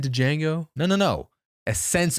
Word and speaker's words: Django: Did you just say Django? No, no, no. A sense of this. It sounded like I said the D Obviously, I know not to pronounce the D.